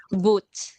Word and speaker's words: Boot: How do we pronounce it? Boot.